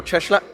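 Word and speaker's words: Cieślak: one day out from laurence coley and mihail cheschlach you know that pronunciation i learned that yesterday from people with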